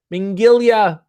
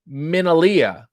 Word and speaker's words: Minalia: Mingalia, Memory Lane said, first of all, it's Minalia. Thank you.